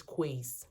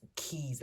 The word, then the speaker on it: Quays: It's spelled Quays. My head is saying it's Quays, but here they call it Keys. I think Keys, Gunworth Keys.